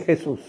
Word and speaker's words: Jesus: Vaya que cuando usted se lo encuentra en inglés, usted pudiera decir Jesús, porque deriva del latín. Lo único que en inglés se pronuncia Jesus, pero está escrito igualito, Jesús.